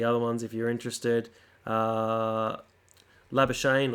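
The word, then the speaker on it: Labuschagne: ones if you're interested lava Shane or lava skug knee if you want to pronounce it in Afrikaans higher score 234 azad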